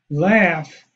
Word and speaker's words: laugh: And here you have a word we know is ha ha ha, laugh. So we pronounce the AU is ah, as indicated here, and the F as indicated here.